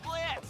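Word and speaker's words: Blitzø: The name's Blitz. The O is silent, and I'll be your assassin today.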